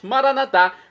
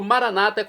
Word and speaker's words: maranatá: E agora eu clamo do aramaico, dialeto de Jesus, maranatá, como dizemos nós católicos, ou maranata, como dizem nossos irmãos separados das comunidades evangélicas ou protestantes. Não importa a pronúncia, o significado é o mesmo.